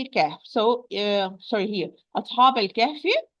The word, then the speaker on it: الكهف: أصحاب الكهف. So the hamza wasl will be dropped. Lam will be pronounced. So I'm going to move from the ba with fatha to the lam with the sukun.